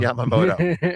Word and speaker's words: Yamamoto: Yamama Yod Yamamoto. Yamamoto.